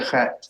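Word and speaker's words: חית: The chet is, that's your chet. Yeah. And what rhymes with chet? Tet.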